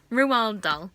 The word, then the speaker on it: Roald Dahl: name that's just his name that's how you pronounce his name Rewald doll okay so um I before I even read